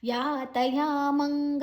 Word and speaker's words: ಯಾತಯಾಮಂ: 11 ಮತ್ತೆನೇ ಶ್ಲೋಕಗಳನ್ನ ನೋಡುವ ಯಾತಯಮಂಗ ತರಸಂಪೂತಿ ಪರಯುಷಿತಂಚಯತ ಉಚ್ಚಿಷ್ಟಮಪೆಚಾಮೇದ್ಯಂ ಭೋಜನಂ ತಾಮಸಪ್ರಿಯಂ ಯಾತಯಾಮಂ ಯಾ ಎರಡು ಕೂಡ ದೀರ್ಘ ನಂತರ ಮ ಆದ ನಂತರ ಅನುಸ್ವಾರದ ಉಚ್ಚಾರಣೆಂ ಮುಂದಿನ ಅಕ್ಷರ ಗ ಇದೆ ಗತರಸಂ ರಸಂ ರಸ ಸ